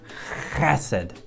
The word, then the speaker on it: Hesed: pronounce this word correctly you get way back in your throat and you say acid that's it you try